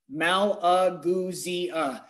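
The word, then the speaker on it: Malagousia: I'm going to put that little like spelling thing like in the dictionary when they spell it out, and I'm going to put Maul-Uh-Goo-Zia, Malaguzia.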